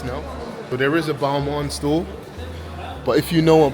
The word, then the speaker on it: Balmain: So there is a Balmain store, but if you know, or Balmain, some pronounce it, but if you know about the